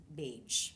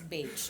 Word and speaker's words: Baje: echo so you know because of the short a sound and then the j sound you know and it's hispanic sounding baje right so sometimes it